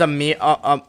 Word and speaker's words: Amir: My name's Amir, not Amar.